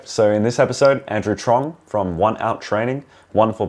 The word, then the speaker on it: Truong: Andrew Truong, is that how you pronounce it? Yeah. Truong, welcome to the Flight Path, my friend.